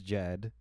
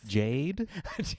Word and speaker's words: Jed: My name is Jed, and now when I say it, I spell it immediately after, because I have a compilation of receipts where I've been called any number of things. Jade, Jen, I love it. Jet. One was Jayed.